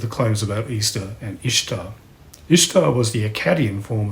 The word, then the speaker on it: Ishtar: the popular memes claims her name was not pronounced easter was actually pronounced more or less as it looks ishtar or perhaps each star she was not primarily